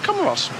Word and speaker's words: Comoros: And I asked someone, is it pronounced Comoro or Comoros? He said Comoros.